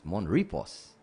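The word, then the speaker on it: Mon Repos: It's Monrepos. It's like, okay. You know, little things like that. We got to send the instructions, you know. Write it down phonetically. M-O-N, Mon, R-E-P-O. Mon Repo.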